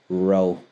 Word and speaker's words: rho: looks like that and it looks like a p it's pronounced row um I often like